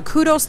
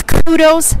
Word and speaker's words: Qdos: gotta check them out go to kudos calm and it's spelled a little unusually so don't get nervous and we tagged them in this feed right now it's QD o s so also its kudos